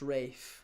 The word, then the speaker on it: Ralph: It's pronounced Rafe.